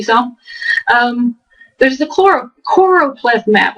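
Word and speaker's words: choropleth: um there's the choro choro ple map I always mispronounce that and call it choro it's called chlorop not chlorop I always want to say chloro but I guess I'm thinking chlorox or whatever there's the we'll look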